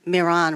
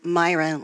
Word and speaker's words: Miran: Um, I was relieved that you pronounced Stephen Miran rather than Myron like most Americans do.